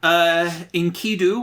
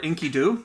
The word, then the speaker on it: Enkidu: Yeah, this is Gilgamesh after Enkidu, or Enkidu, depending on how you want to pronounce it, is killed.